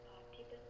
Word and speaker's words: Parthiban: It's Parthiban. Oh, geez, I want to spell that.